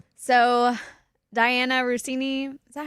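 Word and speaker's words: Diana Russini: So, Diana Rousini, is that how you say her name?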